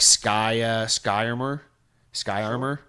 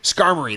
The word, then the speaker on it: Skarmory: Like, I knew enough about Gen 2, but there's a few Pokemon I never discovered before, like Sky Armor. It's the bird that's made of steel. Sky Armor. Skarmory, that's it.